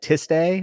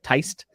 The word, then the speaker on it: Tiste: But he pronounces things maybe the incorrect way, like Tiste or Teist. Teist is correct. Teist is correct. Yes. The correct is, okay, the way the creators of the Malazan world pronounce it is Teist.